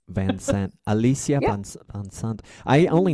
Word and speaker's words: Van Sant: Thank you for saying it correctly. Don gets it wrong all the time. What does and he I've say? Only known him for he calls me Van Zant. He puts a Z in it.